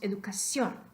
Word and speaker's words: educación: Decimos educación. Por supuesto, ¿no? Decimos educación. Tenemos este estrés extra en la última sílaba.